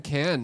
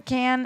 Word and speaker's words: Cannes: proper way to say Cannes or can? Cannes. Can. Tomato, It's not. tomato, It's not everyone's- con, It's and it's not can. can, but it's can. Cannes. Can. Cannes. It's Like like toucan.